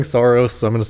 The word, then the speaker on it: Saros: I don't I don't think like rhymes with hair loss. Like I'm sorry. I'm not I'm just not doing that. Everyone is saying Soros, so I'm going to say Soros.